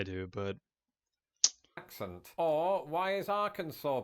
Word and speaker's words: Arkansas: is Arkansas, because it's Arkansas, right? That's how you spell it. Why is it called Arkansas? There's no W in there. There's not like a saw. It's not like a freaking chainsaw.